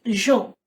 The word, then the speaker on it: Jean Baudrillard: things first the pronunciation it's a French name so the pronunciation is not Jean or John it's Jean okay so Jean bad now